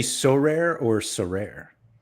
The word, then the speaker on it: Sorare: recently well what does what does Maxim say so rare So Rare the emphasis is on the rare whereas we tend to